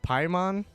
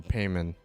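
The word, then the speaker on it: Paimon: uh I know I know her name is pronounced pymon but I've been calling her payment so this is my this is my this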